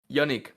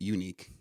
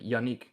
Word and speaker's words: Yannic: end up pronouncing it unique yeah or like yanic yanic too yeah but it's like the the a is kind of um like I pronounce it like a short a like Yanik yanii and and the